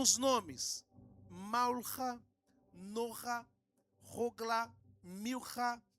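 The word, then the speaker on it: Milca: Norha, Rogla, Milha e Tirza. Porque a P, por que que o senhor falou assim? Porque em hebraico se pronuncia assim.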